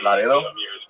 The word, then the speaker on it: Laredo: yeah she's from Laredo she pronounces it Laro which is fun she's Latino